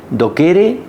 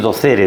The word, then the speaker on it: docere: de que hay que do kere delect o vamos a decir docere delect latín se pronuncia do kere pero bueno docere delect como digo hablamos